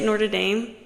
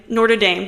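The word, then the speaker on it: Notre Dame: school wrong so bad they say Nord Dame or they say wait the University of n Dame Nord Dame they say it like that at least it's okay I have a friend that goes there and they always say it like that and it confuses me but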